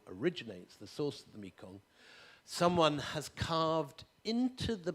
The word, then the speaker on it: Mekong: There is, most obviously, the main river running through Southeast Asia is called Marganga, or as it's pronounced in Khmer, Mekong.